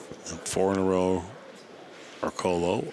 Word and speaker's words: Orcollo: four in a row or Colo or in the Filipino pronunciation or Coolio bamboni one three or